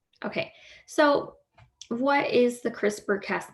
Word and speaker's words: CRISPR: so crispr is an acronym and see this is spelled correctly here c-r-i-s-p-r crispr just no e okay and so crispr